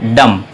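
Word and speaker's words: dumb: कि dual MB है अब इसे अगर आप अलार्म्स करते हैं डम तो यह गलत प्रनंसीएशन है इसका सही प्रेजेंटेशन है डम बीच साइलेंट है डम और अगला शब्द जो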